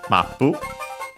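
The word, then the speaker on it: マップ: now first and foremost it says mapu of course map from English we have seen it before in this very series uh should be accented on the first syllable just like in English and it is uh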